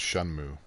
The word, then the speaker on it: Shenmue: I learned recently it's pronounced Shunmu.